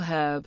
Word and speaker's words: herb: typically uses and before herb since the H in this word is silent for most Americans the correct usage in